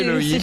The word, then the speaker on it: chéloïde: On peut prononcer Non, c'est kéloïde kéloïde.